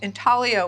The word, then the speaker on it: intaglio: examples of here what intalio means is to inze so the Italian word intalio i n t a g l i o um pronounced in talio is uh means to